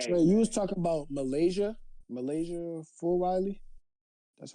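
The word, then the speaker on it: Milaysia Fulwiley: Trey, you was talking about Malaysia Full Riley.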